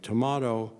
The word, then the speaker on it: D'Amato: D'Amato rhymes with tomato, but I'm from Kansas City. I can't bring myself to say tomato.